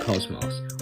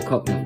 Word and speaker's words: KOCMOC: team's newest project it goes by the name of Cosmos or cotton to most English people as mispronouncing words is